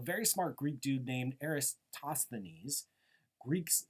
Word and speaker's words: Eratosthenes: And over 2,000 years ago, a very smart Greek dude named Eratosthenes, Greeks not the best people for making easy to pronounce names in English, Eratosthenes not only figured out the Earth was round,